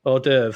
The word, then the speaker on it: hors d'oeuvre: our this is our little sort of uh Oz Dover how do you pronounce that oh Dev oh Dev that's it this is our hors d'oeuvre anyway